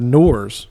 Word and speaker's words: Noir: I got one of those Polytune 2 Noirs. Did I say that right? Noir?